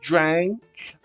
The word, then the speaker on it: drank: uma vez Dream passado drank abre a boca sorri abre o a depois drun drun som